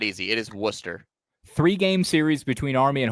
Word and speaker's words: Worcester: Let's go to this town in Massachusetts that is called Wartchester. I see I knew you would say it wrong. It's Worcester.